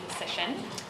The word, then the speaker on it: Lysyshyn: Health, as well as Dr. Mark Lysyshyn, which rhymes with physician. That's how I know how to say it.